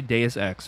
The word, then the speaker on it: Deus Ex: So they have, you say Deus Ex, right? That's how you say it correctly? Deus Ex, yes.